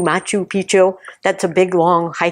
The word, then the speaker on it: Machu Picchu: them I is it I always say it wrong I I always want to say meet you Picchu Machu Picchu that's a big long